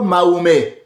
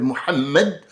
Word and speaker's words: Mohammed: Pourquoi je dois le prononcer en français ? Pourquoi Mahomé ? Pourquoi je dirais Mahomé ? Pourquoi non, il s'appelle Mohammed.